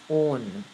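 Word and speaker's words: -one: groups and the suffix own this is not one its own its own because when you see it will come in the name it will be pronounced as own right so there's actually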